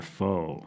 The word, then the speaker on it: faux: So, in this week's game, we're going to be playing Food or Faux, and that, of course, is spelled F-A-U-X. Faux as in fake, as in not real.